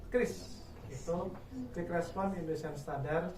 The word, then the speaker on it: QRIS: KRIS ya, bukan QRIS. Nah, bacanya KRIS.